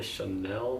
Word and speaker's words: Chanel: Today I'm actually going to cream contour with the Chanel Soleil de Tan, the Chanel, that's how you pronounce it.